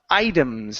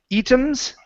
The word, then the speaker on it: items: Uh let's go to uh the word uh items instead of items. The word here is items.